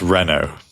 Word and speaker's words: Renault: Renault. Is that how you say it? Or am I going to get made fun of for not saying it correctly? It's Renault.